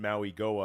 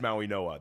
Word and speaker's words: Mauigoa: Yeah, and and shout out to the chat who thinks we are mispronouncing Maui Go it is Maui Noah. That's how you say it.